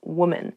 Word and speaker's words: woman: Even though the singular and the plural form of women and woman have the same spelling at the beginning, W-O-M, the pronunciations are different. Woman, women.